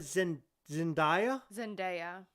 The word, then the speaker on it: Zendaya: I get the Madonna, but Zendaya. How is Zendaya doing? Yes. And for the record, her first name is pronounced exactly how it's spelled.